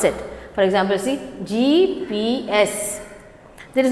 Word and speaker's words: GPS: are augmented reality so abbreviation means we pronounce each letter acronyms means the all